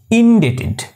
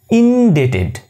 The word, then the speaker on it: indebted: chem plum succumb this indebted b is silent indebted indebted so you hope you